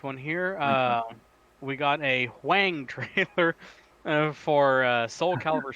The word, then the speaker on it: Hwang: A Wang trailer? It's HWANG. Hwang. It's Hwang. Hwang. That's not how you say it. I don't. It's just that's the dumb American way of saying it.